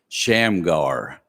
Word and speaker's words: Shamgar: grasp his important lessons pronounce his name slowly shamgar you can almost hear the growl at the end there is power in